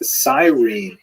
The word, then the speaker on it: Cyrene: I've looked it up and I've heard it pronounced as Cyrene in English. In Greek, it would have been something like Kurene. So I'm probably going to say Kurene, and I'll probably be wrong, but this wouldn't be the first time.